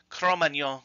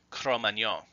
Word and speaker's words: Cro-Magnon: mispronunciation by the way the more common English pronunciation with the hard G is just an anglicized version of the true French pronunciation chrome Anyang before we move on